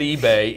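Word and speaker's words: Ibe: Kid's name is J.T. eBay. That's I-B-E. eBay.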